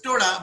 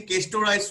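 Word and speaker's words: Cestoda: So Castoda was the original pronunciation, but however nowadays people say Cystoda.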